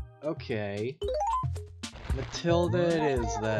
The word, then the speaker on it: Mathilda: is it Mathilda or Matilda so the each is silent okay Matilda it is then yeah go